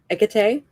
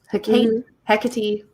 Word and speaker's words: Hecate: not like a tea how do you say it egg tay i was gonna say i've heard it like several different ways hecate yeah yeah i call her ekate um the this is